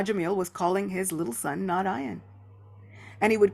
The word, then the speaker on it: Narayana: Srila Vishwanath Thakur Thakur says that Narayana has 4 syllables, Narayana.